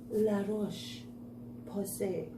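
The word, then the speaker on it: La Roche-Posay: first this is now let's see the french pronunciation la roche posay i give you a laugh if nothing else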